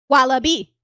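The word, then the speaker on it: wallaby: I think the emphasis is on the other syllable, but no, I think you emphasize you're just emphasizing the B.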